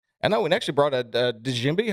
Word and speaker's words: djembe: I know we actually brought a djembe. How do you pronounce that, Josh? Djembe. Djembe. It's pronounced Jimbo.